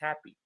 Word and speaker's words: happy: Happy, we don't pronounce it in English happy. It's happy, right? You will notice that the first syllable, ha, is louder, while the syllable p is less loud than ha, right?